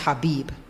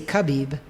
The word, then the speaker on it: Khabib: i'm talking about but his name is pronounced habib but they say khabib and his last name